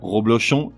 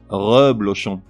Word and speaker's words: reblochon: chacun de tout d'abord la mauvaise prononciation suivi de la bonne reblochon reblochon bougainvillier Bougainville qui représente